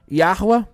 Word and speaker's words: Yahweh: E viu Yod Rei Vav Rei, aqui pronuncio eu, Yahweh, tá?